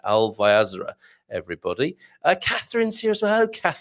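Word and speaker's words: Alvaiázere: Yes, it was in Alvaiazra. Correct pronunciation and spelling there. Alvaiazra.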